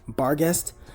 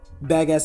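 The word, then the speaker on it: Barghest: Also, I know it's actually pronounced barest, but badass is just easier to say and I don't sound like a pirate while saying it.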